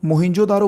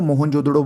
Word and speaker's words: मोहनजोदड़ो: ठीक है, दूसरे नंबर पे मोहिंजोदारो देखो, मोहिंजोदारो बोलो या मोहनजोदड़ो बोलो, कुछ भी जो आप अच्छे से प्रोनाउंस कर सको।